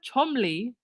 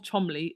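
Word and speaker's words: Cholmondeley: the Queen's companions Lord Oliver chomely I believe that's how you say it thirteen son of the Mark is it Marquis of Chumley also known as filmmaker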